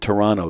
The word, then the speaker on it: Toronto: yes we pronounce it Toronto the t is silent right now in all